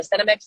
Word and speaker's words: Senomyx: Yeah, it's just, between that and the Cinemix, which, by the way, Clay Clark pointed out Cinemix about a month ago. Cinemix is the flavor ingredient, and it's spelled SENOMYX, Cinemix.